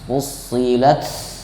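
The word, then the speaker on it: فصلت: Kemudian tan-nya hames. Fusilat ada hembusan napas.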